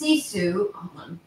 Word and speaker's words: sisu: not all right yes taylor said it's pronounced seesu i don't know